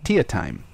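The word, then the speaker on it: Teatime: to their more psychotic and questionable apprentice named Tia time which is spelled tee time d'Italia me Tia timing that's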